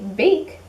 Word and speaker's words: bake: our silent e again so remember our silent he is are also our magic e and our magic e goes back to our vowel and it makes it a long sound so when we want